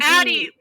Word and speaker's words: Addie: Addie with 2 D's rhymes with daddy.